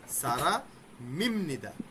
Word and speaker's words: 사람입니다: উপরে আছে ইম মি, নিচে আছে বিয়প, বিয়পের পর আবার আছে নিয়ন, তার মানে বিয়পের উচ্চারণ ময়ের মতো হয়ে যাবে। তাহলে কি হবে? সারা মিম নিদা।